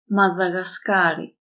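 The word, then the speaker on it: Μαδαγασκάρη: σουαζιλάνδη νότια Αφρική Μαδαγασκάρι Notice here is almost the same name but D and G are softened Μαδαγασκάρει.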